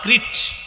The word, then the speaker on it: ক্রিট: আছে, এই দ্বীপটার নাম ক্রিট। কি নাম? ক্রিট বানানটা আমি বলি, ক্রিকেট আছে না, ক্রিকেট। এই ক্রিকেটের কয়েকারটা ফালাইয়া দেন, ক্রিকেট কয়েকার ফালাইয়া দিলে কি থাকে? ক্রিট।